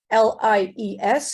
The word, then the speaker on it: Lies: well by trying to pronounce my name as I should be written in Dutch l-i-e-s and it would be lies and therefore I change it the moment I set foot in Dominica in l-i-s-e because I don't like